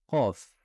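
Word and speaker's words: قاف: Il faudra gonfler l'arrière de sa langue vers le palais. Donc c'est une lettre, vous l'aurez compris, qui se prononce tout au fond de la gorge.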